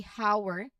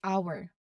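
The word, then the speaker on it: hour: So there's no H sound in there, even though the spelling starts with an H. We do not say hower, hower. No, we do not say that, but it's our.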